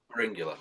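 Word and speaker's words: Pharyngula: Feringula, I don't know how it's pronounced. Feringula. Feringula, there we go.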